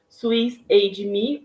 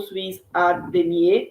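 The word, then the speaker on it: SwissADME: utilizamos uma plataforma chamada suiss a me ou suiz adme então aí depende da pronúncia é uma plataforma Suíça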